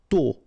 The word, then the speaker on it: tôt: Tôt. Okay, final T not pronounced, and then this O accent circonflexe is a bit stronger than normally, so tôt.